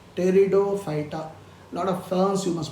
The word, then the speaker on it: Pteridophyta: P is silent. Pteridophyta. Lot of ferns you must be growing in your house as ornamental plants. They all come under Pteridophyta.